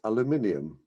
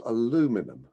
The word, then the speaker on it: aluminium: will in future be spelled and pronounced aluminium not aluminum unbelievable number two i hate